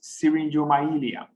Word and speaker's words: syringomyelia: It's syringomyelia. Okay, syringomyelia.